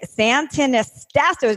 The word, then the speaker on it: Santonastasso: Today, I am here with Nick Santonastasso. Did I pronounce that right, Nick?